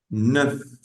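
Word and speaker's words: neuf: Y esa te suena el número nueve se escribe se pronuncia Perdón NF y su escritura es n e u f n e u f NF NF y el número 10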